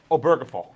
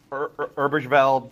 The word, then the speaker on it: Obergefell: By the way, it's pronounced Obergefell, not Obergefell. People do Obergefell.